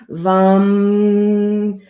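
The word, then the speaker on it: वं: down V, just think VAM. VAM is how you spell it, but it rhymes with hum.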